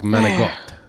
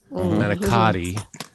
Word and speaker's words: manicotti: But in Italian, a lot of C pronunciations become G's. You know, like menegot, manicotti is manicotti, and then